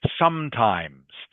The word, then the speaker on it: sometimes: Just remember sometimes has an S on the end. Okay, Anhong, have to Okay. pronounce the S clearly. Sometimes I put pineapple in my pizza too.